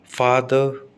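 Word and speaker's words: father: America वाले ऐसे नहीं कहते, वो कहते हैं आर को बोलेंगे हम, जैसे फादर, है ना, फादर। ठीक है, पाक, मार्क, डाक, स्टाक।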